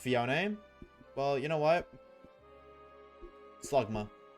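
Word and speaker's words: Phione: But actually it's pronounced Fion.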